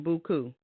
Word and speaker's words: Beaucoup: Now, real briefly, tell me about your nonprofit organization, Beaucoup. Now, do you say it like that? You say it in the French way?